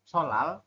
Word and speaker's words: 설날: kan eh hari raya dibacanya solal tapi tulisannya sol Nal ini ya tulisannya sol